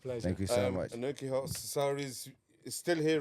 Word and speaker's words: Anokhi: Pronounce Anoki, by the way. Anoki, yeah. Anoki. And it's Karan, not Karen.